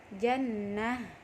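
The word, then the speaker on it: جنّة: H yang dibaca sukun contohnya kata-kata jannatun Hai dibaca menjadi Jannah al-qari atuh Hai kebaca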